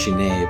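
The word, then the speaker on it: 死ね: Actually, it's pronounced shine, but anyway.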